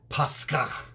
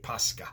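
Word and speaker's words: Pascha: called pesach pesach and in greek which the greek gets its origin from the hebrew it's called pasca pasca and it's spelled in english modern english as p-a-s-c-h-a posca now in the new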